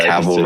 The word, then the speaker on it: Cavill: I did say that wrong. Yeah, Cavill rhymes with travel.